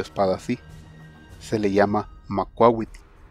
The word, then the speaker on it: Macuahuitl: Se le llama Macuahuitl. Macuahuitl.